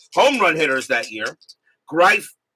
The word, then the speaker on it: Greif: Greif Greif as in rhymes with rife. Okay, so it's rife, not grief.